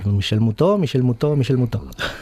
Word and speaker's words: Michel Moutot: Que yo me pasé todo el programa pronunciando Ns al final del nombre y él se la quitaba siempre. Michel Moutot.